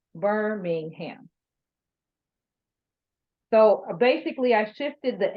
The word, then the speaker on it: Birmingham: it means right so I could say burn Ingham and then I made it basically two syllables right because I I said b-u-r-m - I said berm and then Ingham in ham instead of Birmingham so basically I shifted